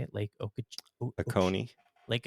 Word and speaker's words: Oconee: Lake Oconee. Lake Oconee.